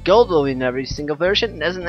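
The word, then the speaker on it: Godot: But anyways, Goldo, not pronouncing the T there, actually is probably based on the Waiting for Goldo, which Anas will explain.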